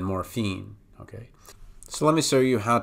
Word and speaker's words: morphine: With morphine, it would just be fiend, then morphine, okay?